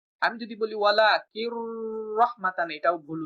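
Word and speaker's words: وَلَٰكِن رَّحْمَةً: পাতলা করে উচ্চারণ করতে হয়, যেটা আমরা র উচ্চারণের ক্লাসেই শিখে আসছি। ওয়ালাকির রহমাতান, আমি যদি বলি ওয়ালাকিন রহমাতান, এটা ভুল উচ্চারণ। আমি যদি বলি ওয়ালাকির রহমাতান, এটাও ভুল উচ্চারণ, কারণ রতে দেরি করা যাবে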